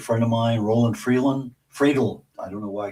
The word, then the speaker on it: Friedl: Fredel. I don't know why I keep saying Freeland. Fredel.